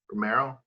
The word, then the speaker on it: Romero: Oh no, you brought up Cesar Romero, and how great is he went and did I pronounce his last name correctly? Romero?